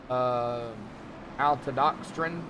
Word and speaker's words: maltodextrin: Malta, like malt. Maltodextrin. Okay. Well, you knew what it was. I pronounce it. I pronounce it the way it's spelled. That's the way it's spelled. Mal. A-L is mal. Mal.